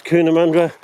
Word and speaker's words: Cootamundra: It's spelled Cootamundra, but everyone pronounces it as Cunamundra.